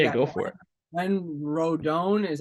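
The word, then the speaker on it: Rodón: I would say yeah go for it when rodon is how you say it Rondon uh rodon yeah John my apologies when rodon comes back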